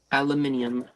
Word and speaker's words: aluminium: always say it wrong aluminum Falcon aluminum Falcon yeah aluminium aluminium like a British person aluminium speaking of